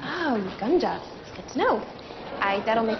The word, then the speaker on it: Uganda: It's pronounced Uganda. Oh, Uganda.